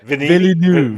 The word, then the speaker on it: Villeneuve: I can't pronounce his name. Villeneuve. Denis. Yeah. Villeneuve.